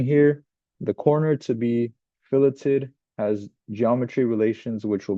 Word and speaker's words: fillet: a a fillet fillet fet is what you pronounce or how you pronounce it when you're talking about food pillet is how you pronounce it when you're talking about sketching so let's do a